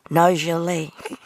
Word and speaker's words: Nargeolet: But in reality, they pronounce it Chevrolet. The same as Nargeolet.